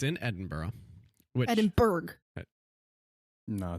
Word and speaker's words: Edinburgh: it is oh okay edinburgh is a disneyland borough i said in edinburgh no you said and pronounced a hard g on there i cannot wait for